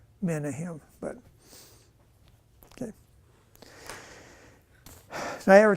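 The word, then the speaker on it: Menahem: a king of the northern Kingdom can anybody pronounce that huh menim that what what all he would say menim that's how you say it in English um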